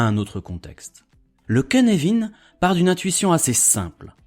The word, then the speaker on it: Cynefin: Oui, il se prononce Cynefin parce qu'il a été inventé par Dave Snowden qui est gallois et que les Gallois ne prononcent rien comme tout le monde.